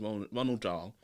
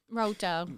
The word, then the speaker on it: Roald Dahl: it wrong, but it's Ronald Dahl. Roald Dahl, everybody. Roald Dahl. Ronald Dahl. Why are you saying Ronald? It's not fucking Ronald.